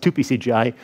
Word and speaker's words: totpcgi: did we write thpcgi it's basically actually pronounced 2pcgi uh after 2pm vino don't ask cgi is